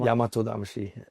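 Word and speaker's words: Yamato-damashii: How do you how do you pronounce it? Yam Yamato Damashi.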